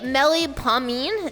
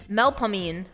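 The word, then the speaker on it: Melpomene: So, is that answer going to be mellipomine? Is that how you say it? Melpamine.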